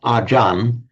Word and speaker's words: ajan: The Thais often drop off the final syllable when they're pronouncing it in Thai. And when a word in Thai then ends in a r, they actually pronounce it, again, a peculiarity of Thai phonetics, as a n. So what is acharya in Sanskrit, acharya in Pali becomes, essentially the same word, becomes ajan in Thai.